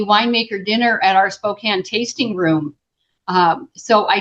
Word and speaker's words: Spokane: How do you pronounce that? Spo Spokane.